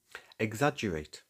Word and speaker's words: exaggerate: Exaggerate, for instance, comes to us from Italian and it features a soft double G sound.